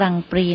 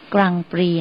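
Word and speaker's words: Grand Prix: มา จาก คำ ว่า กรังปรี นั่น เอง ค่ะ กรังปรี นะ คะ สะกด เรา จะ สะกด แบบ ภาษา อังกฤษ นะ คะ แต่ เวลา ออก เสียง เรา จะ ออก เป็น กรังปรี สะกด ด้วย ตัว g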